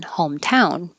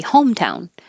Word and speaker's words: hometown: Oh, and hometown is a weird compound word where most compound words have stress on the first syllable, like laptop, cell phone, backpack. But this one has stress on the second one, hometown.